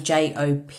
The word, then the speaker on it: Jophiel: So instead of Jophiel, he came as Joffiel. So it's like an Italian pronunciation, but obviously it all comes what is right for you.